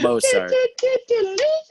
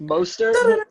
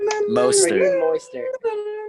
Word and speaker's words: Mostert: Not Mozart. I cannot pronounce his name for my life, but Mostert? Moister.